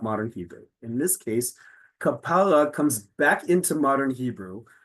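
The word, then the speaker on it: כפרה: In modern Hebrew, the stress is on the last syllable. That is a major component of what makes modern Hebrew modern. The stress is almost always on the last syllable. This is kapara, which already tells you, because it's on the penultimate syllable, that this is not modern Hebrew.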